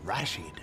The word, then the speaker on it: Rashid: I emphasize the first syllable, Rashid. Rashid.